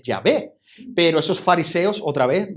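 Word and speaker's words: Yahvé: de vosotros sabéis que realmente la pronunciación de jehová es llave pero esos fariseos otra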